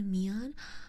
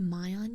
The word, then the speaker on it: Myon: Anyone call you Mayon yet? Nope. Everyone actually pronounced Mion correctly.